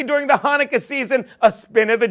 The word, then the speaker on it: Hanukkah: to say during the Hanukkah season, a spin of the dreidel. Yeah, Hanukkah, not Chanukah. Why do people always pronounce the C? It's silent.